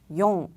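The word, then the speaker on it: よん: 그리고 숫자 4는 읽는 방법이 두 가지예요. 뒤에 붙는 조수사에 따라서 읽는 방법이 달라지는데요. 시라고 읽을 수도 있고요. 용이라고 읽을 수도 있습니다. 시 혹은 용.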